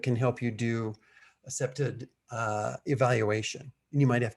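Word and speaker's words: CPTED: It's pronounced like that, SEPTED.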